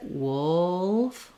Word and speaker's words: wolf: because the word wool the word wolf is like wool plus an F so in the dictionary you're going to see this uh when you're trying to practice it wolf wolf um it's it's